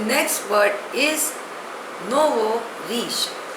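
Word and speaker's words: nouveau riche: a long epic poem the next word is नोव रीश spelling is एन ओ यू वई ए यू आर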